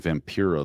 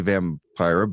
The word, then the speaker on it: Vampira: I was saying Vampira the whole time. Well, you could say it either way. I say Vampira, but so I say Vampire and then Vampira. So that's how I mean, Vampira sounds more like vampire.